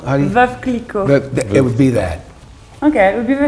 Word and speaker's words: Veuve Clicquot: Vive Clicquot? Veuve Clicquot.